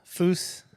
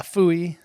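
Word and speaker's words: pfui: and walk with you you have to say it like an angry German like fo Yeah the more Angry you say it the more likely that they're going to listen Okay Okay uh fooy like no um I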